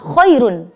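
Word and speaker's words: خير: Coba perhatikan pada kata khairun. Ro-nya hidup, berharokat domatain, coba perhatikan. Dan didahului dengan ya sukun. Sebelumnya ada ya sukun. Tapi ro yang domah itu tadi diwakafkan. Maka cara membacanya adalah tarkik atau tipis.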